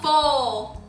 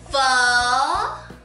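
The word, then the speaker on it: phở: my god I love Bowl they can't pronounce it right it's fun with an attitude get it right but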